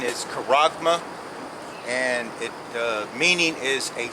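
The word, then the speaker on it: χάραγμα: mark lifted up Strom's g54 80 and the pronunciation is Kurama and the meaning is a stamp or an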